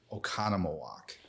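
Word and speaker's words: Oconomowoc: We have a lot of Native American history in the state of Wisconsin, so it's actually pronounced Oconnomowoc.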